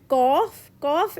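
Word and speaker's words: ق: But qaf is heavy letter, so we have to pronounce the way we pronounce orange. Qaf.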